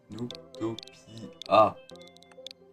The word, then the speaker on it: Noobtopia: Alors, du coup, ça se prononce comme un noob. Noob. Noobtopia.